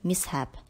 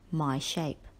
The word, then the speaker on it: mishap: Word number 17 is mishap. A mishap is an unlucky accident. For example, the boy had a mishap on the playground yesterday and broke his arm. Do not pronounce this word as my shape.